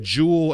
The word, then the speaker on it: dual: a little more pronounced so for you it's like jewel and like a jewel like a gem and are pronounced the same for us it's dual like two things together so it's a different pronunciation thing so the language